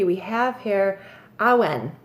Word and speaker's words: Awen: Number 3, we have here Awen. Well, I pronounce it Awen. It's A-W-E-N. Awen? I want to say Awen.